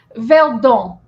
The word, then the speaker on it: Verdun: So basically, there was something called the Beast of Verdun, which is where I'm from in France, the Verdun Valley. The Beast of Burden? Verdun. Verdun. Oui. You are not saying every syllable in that word.